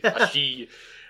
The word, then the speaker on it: Ashi: You're enunciating the second syllable of the name. Ashi. Yeah, not Russian here.